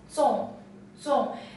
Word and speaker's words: 粽: This character is pronounced as 宗,宗, and it always is